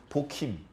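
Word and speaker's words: 보김: 이름을 보기임이라고 지은 거예요 원래 히브리 발음으로 복힘 우는 사람들 울면 뭐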